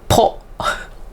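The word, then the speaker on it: ぽ: How about if you just put circle? It's po. Po.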